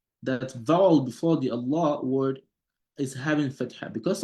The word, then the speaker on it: الله: So the lam that comes right after the alif al-wasli is a lam sakin, right? It's a sakin. It's not being pronounced.